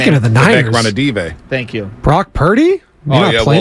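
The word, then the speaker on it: Ranadivé: I always mispronounce his name. Speaking of the Niners. Ranadive.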